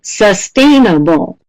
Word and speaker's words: sustainable: Perfect. Sustainable. Da, da, da, da. Da, da, da, da. Same as environment, so sustainable.